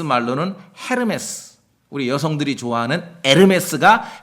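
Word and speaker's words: Hermès: 헤르메스 우리 여성들이 좋아하는 에르메스가 헤르메스의 불란서 발음입니다 프랑스 발음 신의 이름이에요 그까 이스라엘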